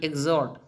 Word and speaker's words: exhort: क्या इसको इसका स्पेलिंग है EXHORT, एग्जॉट।